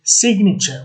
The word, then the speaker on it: signature: If you look, for example, at the word sign, where you don't pronounce the G, as opposed to signature, where you do pronounce the G.